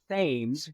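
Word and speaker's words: Thames: a river that is spelled just like the one in London England but they pronounce it themes instead of TS if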